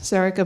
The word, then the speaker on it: Sorcha: My name's Sorcha, pronounced Sorcha but spelled Sorcha. It's very confusing.